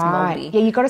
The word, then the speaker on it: Māori: It's Maori.